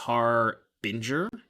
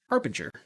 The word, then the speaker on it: Harbinger: It's pronounced Harbinger. That's what I said. Harbinger. I don't know, Eli. What are you talking about? You literally said you just confirmed that I was right. Harbinger. Harbinger. Like binge drinking, right?